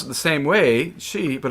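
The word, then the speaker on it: sídhe: The word, the Irish word for fey is she. It's spelled S-I-D-H-E, right? She, you've heard that, like banshee kind of thing. In Scotland, they pronounce it the same way, she, but it's spelled S-I-T-H,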